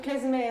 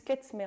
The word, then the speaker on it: Klezmer: Sur Klezmer, parce que beaucoup disent Klezmer, mais en fait, Klezmer s'écrit K-L-E-Z-M-E-R.